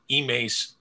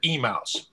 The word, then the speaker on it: Emmaus: lived a block off emace emmaus avenue over in allentown and of course i remember the people who weren't from the local area who always pronounced it emails right it's like an